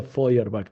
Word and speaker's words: Feuerbach: Este autor alemán se llama, se escribe Powerbatch, pero se pronuncia Ferbach.